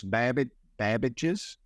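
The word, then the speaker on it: Babbage's: GameStop so talk to me how do you pronounce that first of all it's bab bages named after named after Charles Babbage yeah uh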